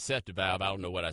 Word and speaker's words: Seth DeValve: Well, I apparently said the gentleman's name wrong. It's Seth DeValve.